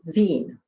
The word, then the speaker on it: zine: Around mid 2015 Jay-Z launched his first Yeezy lookbook and shortly thereafter clarified on twitter Z-I-N-E pronounced 'zeen', a lot of people pronounce it wrong.